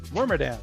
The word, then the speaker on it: Wormadam: And then my rare is a non-holo, how do you pronounce it? Wormadam? Wormadam.